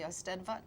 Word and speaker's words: Eisteddfod: You mentioned the Eisteddfod.